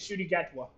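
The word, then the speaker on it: Ncuti Gatwa: name is shoy uh the actor's name is Shy gatwa oh this is one of those like he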